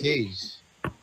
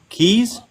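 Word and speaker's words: Kayj: Cage's real name is Cage. Keys? No, Cage. That's my actual name. Seriously? Yes, seriously. It's not His spelled actual K-A-Y-J.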